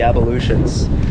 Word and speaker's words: ablution: You added an extra syllable. What's It's the not word? ablutions. What is it then? Ablution. Ablution. Ablution. You're saying it like abolition.